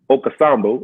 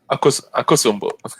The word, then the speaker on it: Akosombo: And I've also been up to the Volta region, to the Volta Lake, to check to Lake Okasambo. I believe that's how you say it, Akasambo. Akosombo.